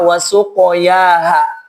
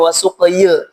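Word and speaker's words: وسقياها: Bacanya sama wasuqoyaha dia enggak enggak dibaca wasuqy.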